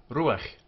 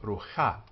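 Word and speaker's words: רוח: So ruach, ruach. Not rucha, but ruach, ruach.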